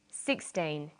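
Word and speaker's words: sixteen: Usually the first syllable in a number is stressed. 16, 60. Notice that it's the final N in teen that you have to be careful with.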